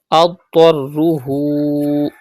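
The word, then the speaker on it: أَضْطَرُّهُ: Adtarruhu. Pronounce dod and ta with thicker voice because they are from mustaliya letters.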